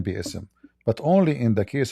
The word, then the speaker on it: بِإِسْمِ: All, it's saying bi'ism correctly. You see it? Right. فَسَبِّحْ بِإِسْمِ رَبِّكَ. So what they do, because the pronunciation will make it so hard to sing